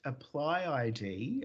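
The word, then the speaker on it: ApplyID: very much team up pronounced apply id uh we'd like to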